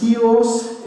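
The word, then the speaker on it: σκεῦος: Well, the vessel is a Greek word that's pronounced skios, and it can be translated as a vessel, but I think it's too small.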